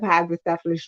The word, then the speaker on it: hydrocephalus: I was growing up, is that I had hydrocephalus, but the attributes of someone with cerebral palsy. So all my life, it was always said that you have hydrocephalus, you have hydrocephalus, and for most people, you